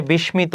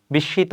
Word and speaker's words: বিস্মিত: অর্থ হবে বাদ্যযন্ত্র বিশিত অনেকে উচ্চারণ করে বিস্মিত বিস্মিত হবে না ম এর উচ্চারণটা হবে না এখানে বিষ বিষিত হবে যোগ্য